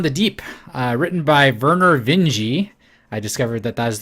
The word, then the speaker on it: Vinge: a fire upon the deep written by Vernor Vinge II I discovered that that is the correct way to pronounce it is this like metros are you